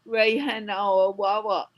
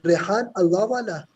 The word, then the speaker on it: Rehan Allahwala: you follow Rayhan Alawala? You mean Rehan Allahwala?